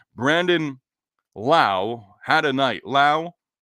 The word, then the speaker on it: Lowe: Lao had a night Lao rhymes with now went two for four